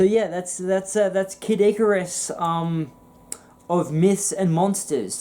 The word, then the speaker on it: Icarus: that's kidís that's kid icarus oh I say I quote kiddo a Cyrus Fitz pronounced Icarus the hell is that